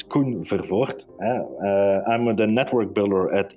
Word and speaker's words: Koen Vervoort: a multi-stakeholder environment my name is real flemish and hard to pronounce it's kun fervort i'm the network builder